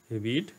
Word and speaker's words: read: শিক্ষার্থী বন্ধুরা এই যে এখানে কিন্তু আমি রেড উচ্চারণ করলাম কারণ প্রেজেন্ট ফর্মে কিন্তু রিড উচ্চারণ হয় এবং পাস্ট ফর্মে কিন্তু পাস্ট ফর্ম এবং পাস্ট পার্টিসিপল ফর্মে কিন্তু রেড উচ্চারণ করা হয় অর্থাৎ রিড থেকে রেড রেড ওকে বিষয়টা একটু মাথায়